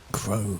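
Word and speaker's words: Creux: Crow. Pro. Yeah. Pro. Sorry.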